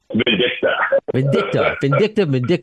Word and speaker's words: Vindicta: Vindicta.